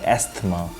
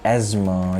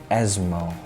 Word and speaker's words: asthma: the correct pronunciation is asthma you are not going to pronounce the word th as though here th is silent it's not going to pronounce the correct word is asthma next word in the